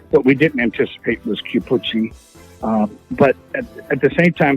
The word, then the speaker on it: Chiappucci: I called him Cappuccino. I think that he thought I was mocking him, which I wasn't. I just literally just said Cappuccino.